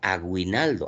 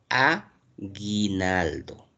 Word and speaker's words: aguinaldo: Muy bien, porque la U no tiene sonido y como no tiene sonido es como si no existiera. Pues nadie, nadie pronuncia aguinaldo. ¿Alguien dice aguinaldo? Nadie dice aguinaldo. Nosotros decimos aguinaldo. Solamente está sonando la i.